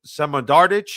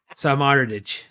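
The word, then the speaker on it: Samardžić: 2-1 thanks to a winner by some Samodardic. I can never pronounce this guy's name. You're saying you know how to pronounce. Samardich.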